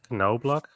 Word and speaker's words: Knoblauch: Knobloch, I've not pulled it's pronounced Knoblauch in German, so that just means garlic.